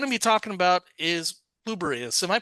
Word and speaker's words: Pluribus: Well, what we're going to be talking about is Bubberus. Am I pronouncing it right? I'm not good on my Latin, unfortunately enough. I mean, I've just been saying pluribus as if one were an I.